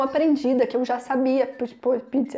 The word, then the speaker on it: pizza: E em francês eles vão falar exatamente com o som de Z, então eles vão falar pizza. Então eles têm essa Z na língua que a gente não faz.